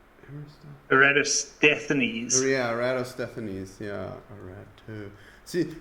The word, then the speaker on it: Eratosthenes: It's Eratosthenes.